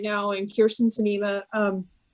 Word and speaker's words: Sinema: right now and kirsten sinema um cinema whatever i keep on pronouncing your name a different way than you do i thought it was cinema no cinema okay anyway almost like cinnamon yeah um she's yeah